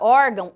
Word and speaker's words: órgão: A sílaba mais forte da palavra órgão é o or. é a penúltima sílaba. O til, ele marca apenas a nasalização, ele marca que o som que eu estou produzindo não sai exclusivamente da minha boca, e sim também do nariz.